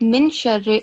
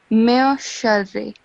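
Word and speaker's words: مِن شَرِّ: So instead of min sharri, it will be mir sharri.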